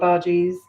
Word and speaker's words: bhaji: our verges in there i am saying bhajis but actually in india where i come from they're pronounced bhaji a very nice strong emphasis on the bh so practically no ah sound and then the ji is the same as uh bhaji so they're called bhaji um in maharashtra and